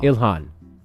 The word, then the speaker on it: Ilhan: Ilhan.